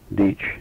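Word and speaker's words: Dietsch: oldest was my aunt Mary who married Louis deach d-i-e-t-s-c-h who's my godfather and uh from whom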